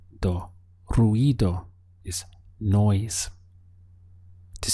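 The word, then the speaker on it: ruido: noise in Spanish is ruo ruo make sure you're getting this e sound over the i r e do ruo is noise to say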